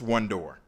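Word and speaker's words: WONDOR: and research program and the acronym wo n do R which is pronounced one-door the program strives to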